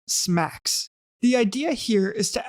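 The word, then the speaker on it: SMACSS: Now let's take a look at the scalable and modular architecture for CSS, pronounced SMACS.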